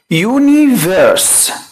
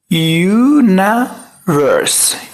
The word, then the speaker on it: universe: طبعا ناس كتير قوي بتنطقها او حافظاها لانها universe، وهو عشان ضم الار كده افتكر ان هي صح. لا، خد بالك ان الاي لما تيجي بعد الان بفتحها مش بكسرها، فبقول universe.